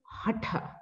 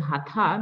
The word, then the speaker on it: hatha: yoga okay originally we the proper way to pronounce is hatha hatha yoga but it's okay if you have been pronouncing hatha because that's how lot of people have been